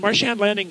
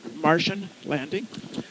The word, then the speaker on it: Marsh Anne Landing: party what's your winery it's Martian landing and marsh and landing is is also mispronounces Martian landing and we actually have a flying saucer on